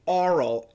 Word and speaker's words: oral: Specifically oral, A-W-R, yeah, you can do it. It's oral, okay? So just make the A-W long, oral, oral, oral.